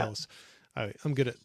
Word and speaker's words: Gillis: But William Holden was playing Joe Gills. Or Gillis? Yep. Gills? Joe Gillis, yeah. Gillis.